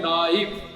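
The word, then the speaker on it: knife: English पढ़नी है नाइफ, नाइफ पढ़ो, लिखना NIFI नहीं है, KNI, ये साइलेंट है।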